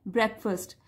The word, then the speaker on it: breakfast: की जो बात है, यहाँ पे दो शब्दों से बना है, ब्रेक और फास्ट। लेकिन हम इसको जब प्रोनाउंस करते हैं, इसका उच्चारण करते हैं, तो दोनों शब्दों को वैसे नहीं बोलते कि ब्रेक और फास्ट, तभी क्या बन जाता है, ब्रेकफास्ट।